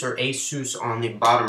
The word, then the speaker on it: Asus: then it has um however you want to pronounce it Asus or Asus on the bottom right here I believe most